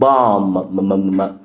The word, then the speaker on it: bomb: الام لما بيبقى جاي بعدها بي البي بتبقى silent يبقى هنا البي silent فبنقول bomb. bomb.